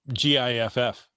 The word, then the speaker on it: GIF: So It's pronounced GIFF.